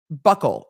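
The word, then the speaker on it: buccal: do it is spelled Buckle it is spelled Buckle b-u-c-c-a-l uncle buckle Jason Momoa just released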